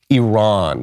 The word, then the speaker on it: Iran: sophisticated lib spreads Iran even the way I've been pronouncing it because I've been hearing it on TV for the last 20 years Iran because that's the way that the Iranians themselves pronounce it but I think okay